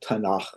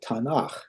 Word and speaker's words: Tanakh: So, if you take those first three initial letters, you come up with an acronym uh which would be pronounced or spelled Tanakh or Tanakh.